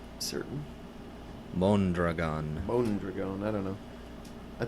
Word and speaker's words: Mondragon: I've always heard it pronounced Madrigon. But other people might be mispronouncing it. I'm not certain. Mondragon.